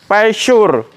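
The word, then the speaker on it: Peugeot: kena ada engkolannya Oke ini namanya pure padahal tulisannya pegot Mas Bro Ya kalau saya bacanya pegot gitu aja yah ganti buka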